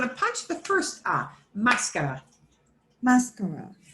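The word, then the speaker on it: máscara: it would sound like mascara. But the way we pronounce it disobeys their stress rules.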